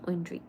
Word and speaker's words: Oindree: Oendri.